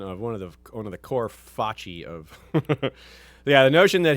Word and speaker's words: foci: It's Fachi. Fachi, of Yeah, course. of course Yes, it's Fachi. We have a straightforward statement of one of the core Fachi of.